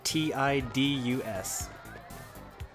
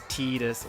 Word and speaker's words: Tidus: so here's this guy his name is spelled t-i-d-u-s and that's about all we know about how you're supposed to say that name if you were to say it in japanese it would be tidus but i'm going to call